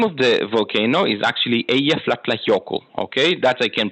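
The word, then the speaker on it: Eyjafjallajökull: uh the name of the volcano is actually a yeah yoko okay that i can pronounce it took me five years to learn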